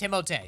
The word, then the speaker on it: Timothée: All right, well, I think that your name should be pronounced the way it should. That's what it sounded like to me. It's Timothée.